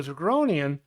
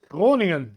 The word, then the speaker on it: Groningen: Yeah, I can't pronounce exactly the Dutch way yet, but that's okay. Groing. Yeah, the G and the R is railing a rolling R, and that's make it more difficult.